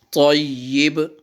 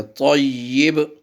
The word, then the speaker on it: طیب: گا۔ اول کلمہ طیب، طیب طیب پڑھتے ہیں اس کو، تو یا کے نیچے زیر ہوتی ہے طیب۔ لا الہ الا اللہ